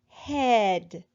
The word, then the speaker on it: head: We do not hear the A because it is silent, but instead we hear the E making its short sound.